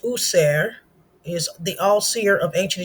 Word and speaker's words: Auser: Auser, which is pronounced User, is the all-seer of ancient Egyptian spiritual science, refers to our connection to the divine mind of God.